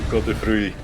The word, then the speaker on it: Godfrey: You don't pronounce the E. Godfrey.